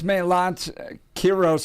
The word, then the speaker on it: Melat Kiros: That's Melat Kiros, and please correct me if we're pronouncing it incorrectly. No, but perfect pronunciation.